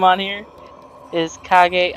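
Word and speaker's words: 影: name on here is KAG R it's KAG is Japanese for shadow oh really cuz it says cage ear yeah k a g e cage is pronounced KAG in Japanese yeah oh okay yeah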